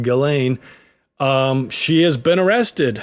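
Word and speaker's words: Ghislaine: glain Maxwell jine Maxwell for some reason it's pronounced galain um she has been arrested from in New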